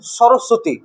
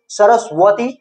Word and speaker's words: সরস্বতী: হয়ে যাচ্ছে বা এরকম সরস্বতী সরস্বতীতে ব একটা আছে বটা উচ্চারণ করছি না আমরা ঠিক আছে তো বটা সাইলেন্ট থেকে যাচ্ছে তো ওটাকে আমরা কি